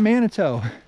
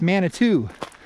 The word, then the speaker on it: Manitou: climb upward i was sitting here earlier it's pronouncing it manito it's not manito it's mana two so we're off to little manitou falls coming